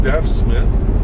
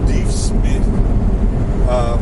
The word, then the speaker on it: Deaf Smith: Dave Smith County most people including residents here pronouncing deaf Smith but it's pronounced D Smith it was named after a scout and soldier